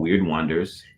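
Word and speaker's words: Wyrd Wonders: It's called Weird Wonders. Yes. And that's spelled WYRDWONDERS.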